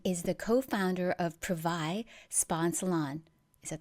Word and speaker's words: Privai: So, Christina Stratton is the co founder of Privai Spa and Salon.